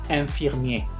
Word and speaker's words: infirmier: Tenemos la misma palabra que utilizamos en otro error, infirmier. Enfermero empieza con IN, la IN se va a pronunciar como EN, infirmier.